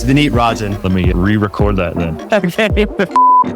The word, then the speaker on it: Vineet: I need I should have confirmed that I pronounced your name correctly before we started rolling that that is it's V Rin let me re-record that then ordinarily I would